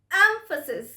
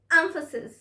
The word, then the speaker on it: emphasis: stress emphasis emphasis yes the stress is on the first syllable emphasis so repeat after me